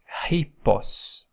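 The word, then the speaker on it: ἵππος: so helos hippos hippos when you have a double p double Pi like here uh the effect of a double p double Pi is to to put a little pause before you pronounced the pi as if you were charging it hippos hippos it's not just hippos you make a little pause as if you were charging the P hippos hios then the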